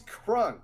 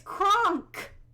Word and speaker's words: Kronk: He's Crunk, of course. Did you call him Crunk? As in... Kronk. That's what I said. You said you're saying Crunk. It's Kronk.